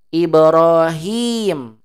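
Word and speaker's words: إبراهيم: kasrah sebelumnya wajib dipanjangkan Ibrahim itu bacanya Ibrahim Hnya wajib dip dipanjangkan kar ini huruf mad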